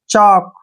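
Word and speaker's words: chalk: क्या पढ़ेंगे, वॉक, क्योंकि के से पहले एल आया है तो एल का जो प्रोनाउंस है वो हम नहीं करेंगे, वॉक। जैसे चॉक, ठीक है ना, चॉक।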